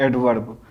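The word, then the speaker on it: adverb: एडवर्ब। लेकिन अब इसमें भी है भी जो क्या है साइलेंट।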